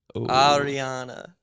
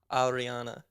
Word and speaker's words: Ariana: to Ariana yeah exactly at least you could say my name right Ariana what about that say it again Arana absolutely not I'm I'm probably the